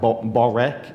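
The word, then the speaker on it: börek: come from turkish and forgive my turkish pronunciation but something like borek it's b-o-r-e-k which looking at different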